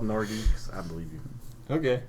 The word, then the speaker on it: Nordiques: You said You said Nordique. It is Nordique. It is spelled Nordiques. Oh. It is Nordique. I thought it was Nodi.